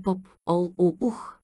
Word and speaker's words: Попол Вух: отбелязвал писмено в имената попол вух би трябвало да се произнася поп ол у ух не съм обозначил ударението